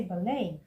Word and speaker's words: ballet: They will say but the te is there. So why do we say ballay? Why not ballet? No, it is ballet.